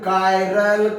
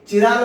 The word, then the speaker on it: chiral: CHRL कोई लेंगे, कोई लोग इसे चिराल कार्बन बोलते हैं, किराल कार्बन, चिराल कार्बन। इसका प्रोनाउंसिएशन ऐसा नहीं, CHI chiral carbon.